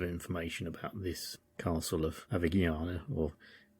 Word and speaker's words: Avigliana: Although I do have a little bit of information about this castle of Avignana, or it's spelled Avigliana, but Avignana I think is how the Italians would say it.